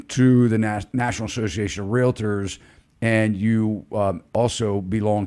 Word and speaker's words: Realtor: you know the term it's a it's a two-syllable word a lot of even agents want to say realtor it's not it's realtor and basically you have